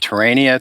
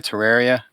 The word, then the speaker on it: Terraria: how do you say is it terrainia terraria terraria there's no second end in there actually no n in